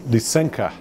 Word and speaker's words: Lysenko: Interestingly, it's Vavilov and Lysenko are the pronunciations. I've heard a number of different pronunciations, but those are the correct Russian pronunciations.